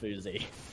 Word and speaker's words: phzy: I said, my friend, I called him out, and I said, I appreciate the feedback, but I know from the man himself that it's pronounced phzy.